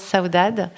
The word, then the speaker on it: Saudade: saudad c'est à saudad on dit pard alors avec le petit accent portugais effectivement qui n'est pas parfait non plus mais ouais on prononce saudad comment est né saudat